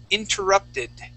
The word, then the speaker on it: interrupted: The word is interrupted. Interrupted. Okay, yeah, give me an id sound at the end.